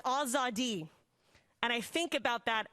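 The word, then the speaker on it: آزادی: back of my neck it's pronounced azadi and i think about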